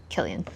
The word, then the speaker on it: Cillian: And when I just saw this name, Cillian, I just thought it was so pretty with the C, even though it's pronounced with a hard C sound, Cillian.